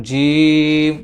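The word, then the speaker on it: ج: জিম জিম জিম এটার যে জিহ্বা আছে জিহবার মধ্যখান তালুতে লাগবে তালুতে লাগা অবস্থায় মুখের এই অবস্থায় এই অবস্থায় যখন থাকবে তখন জিম উচ্চারিত হবে জিম জিম জিম জিম জিম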